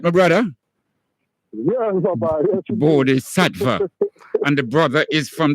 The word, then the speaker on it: Bodhi Sattva: I pronounce it right, my brother? Yeah, Bodhi Sattva.